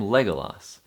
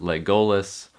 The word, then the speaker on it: Legolas: Another example of this is the name legolas. The emphasis is on leg olas, not legololis or legolas.